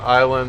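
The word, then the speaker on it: Islay: brick logic makes very peaty whisky it's from Isla which is an island that's kind of in between Scotland and Ireland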